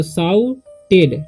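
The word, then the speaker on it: shouted: तो यहाँ पर साउट ओ यू जब रहेगा तो उसका उच्चारण हो जाएगा आउ, ठीक, तो साउटेड, टी से टेड, साउटेड, ठीक।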